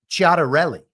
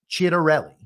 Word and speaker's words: Ciattarelli: And I'm going to rely on my half Italianness and the couple semesters of Italian I studied in college, and assume the correct Italian pronunciation here is Ciattarelli.